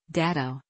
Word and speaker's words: Dat: Incidentally, Datto, how a native Japanese speaker would pronounce Dat, means to dash off like a startled rabbit, which was considered a good name for the little car.